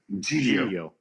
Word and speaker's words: Giglio: How do you pronounce it? Giglio.